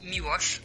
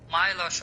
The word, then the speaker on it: Miłosz: Yes, it's, to be honest, in Poland it's Miłosz, but I'm pretty sure it's too tough, so Milos or Milos is pretty, It's fine.